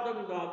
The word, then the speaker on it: dominó: Então ela é paroxítona dominó então Vamos gritar o dominó dominó então a sílaba nó é a última sílaba por qu a